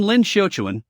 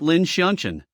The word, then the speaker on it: Lin Shouan: You still get my name wrong as usual. I'm Lin Shouan, not Lin Shian.